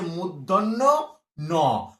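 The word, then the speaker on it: মূর্ধন্য ণ: শুধু ন বললে ভুল, শুধু ন বললে ভুল, এর অরিজিনাল উচ্চারণটা হচ্ছে মূর্ধন্য ন, মূর্ধন্য ন, এর অরিজিনাল উচ্চারণ।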